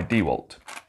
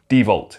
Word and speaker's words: DeWalt: is the wall dog by dewalt or dvault if you pronounce it wrong so the dewalt wall